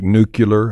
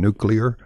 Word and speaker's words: nuclear: multiple uh pronunciation variants like nuclear and nuclear that one's a little more problematic in that um a lot of people would claim that nuclear is an incorrect pronunciation so much so that